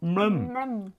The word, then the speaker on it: MLEM: put their tongue out, it's said to make the sound MLEM. MLEM. So that's the name of the game, MLEM Space Agency. So if you now say it like MLEM or something like that, you have to just say MLEM Space Agency. It's a sound.